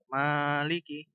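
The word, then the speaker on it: مالك: Jadi ma-nya itu ada matnya. Sehingga ditekan gitu. Ada penekanan pada huruf mim. Gimana? Maliki yaumiddin. Fokus pada lafaz malikinya itu ma-nya ditekan. Maliki.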